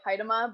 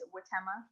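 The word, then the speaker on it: Huitema: I've always pronounced it Haidama, but apparently it's Witema.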